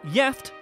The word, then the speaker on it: gift: One Swedish word that is spelled the same as the English is gift, but is pronounced jeft and has two separate meanings, the first of which means married.